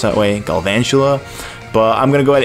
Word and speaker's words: Galvantula: he's gonna go for galvantula i believe it's pronounced that way galvantula but i'm gonna go ahead and switch into